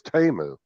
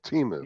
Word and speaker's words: Temu: If you watch the commercials, it says Temu, not Timu.